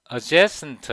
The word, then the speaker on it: adjacent: 이 T 발음이 거의 안 들려요.